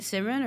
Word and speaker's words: Simran: And then, I mean, another thing I wanted to ask you about Simran was, am I saying your name right, Simran, or do I have to roll your R? No, it's perfect.